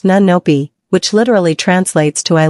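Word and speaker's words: 눈높이: In Korean parenting culture, there is a deeply held principle called, pronounced nunnopi, which literally translates to eye level.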